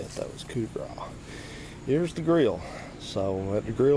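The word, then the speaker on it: coup de grâce: If you look at that word spelled out, it says like coup de grace. That's not how you say it. That was coup de grace.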